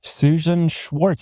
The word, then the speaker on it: Susan Schwartz: Susan Schwartz, am I pronouncing that correctly?